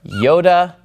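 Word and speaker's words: iota: next three is a group also which are Yoda Kappa and lambda all right and the reason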